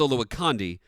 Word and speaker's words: Olowokandi: I know it was pronounced Olowokandi, but they changed it to Candy to be the Candy Man.